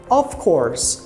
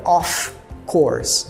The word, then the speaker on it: of course: aí na pronúncia tá quando tem somente um F A gente vai pronunciar como se fosse V então fica of of course of course é um é um F bem Sutilmente pronunciado soa praticamente como um v of course nunca diga off course nunca diga off porque off ele é o off com dois FS de por exemplo turn